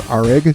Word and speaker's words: ARG: ruins exploration game I know that that reads as arig but I'm going to pronounce it as ARG I mean the the